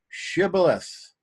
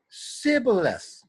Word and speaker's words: Shibboleth: When he said no, they said to him, "Then say Shibboleth." And he said, Sibboleth, for he could not pronounce it right.